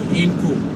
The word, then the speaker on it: Inkoo: We're going to Incu, here in Finland. And I told you that in case I didn't pronounce it well, that Incu is spelled like INKOO.